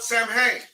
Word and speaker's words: Samhain: No Druid god was more powerful, nor more feared than Lord Samhain. Lord Samhain. Right? Say Samhain, all right? Not Samhain. Samhain. That's how it's pronounced.